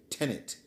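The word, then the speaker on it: tenet: speakers of America English seeing the number 10 then add the pronoun pronoun e and then you have tenant pronounced unfortunately there was a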